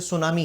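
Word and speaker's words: tsunami: जरूर शुरू होती है जैसे सुनामी है सुनामी तो हम तो इसको ऐसे पढ़ते ना सुनामी लेकिन स्पेलिंग उसकी क्या है सुनामी की spelling T एस यू एन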